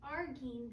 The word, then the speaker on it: arginine: The average plant food is much higher in arginine than lysine.